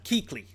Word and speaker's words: Kuechly: Yeah, but it's pronounced Kuechly. Kuechly.